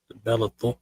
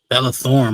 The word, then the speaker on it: Bella Thorne: I still got the Bella Thorpe proposal. The what? Some woman named Bella Thorpe proposed. Bella Thorne, my fault. I'm saying her name wrong.